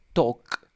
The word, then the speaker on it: talk: Voy a decir talk. Talk. La L no pronuncio. Talk. We omit the L sound.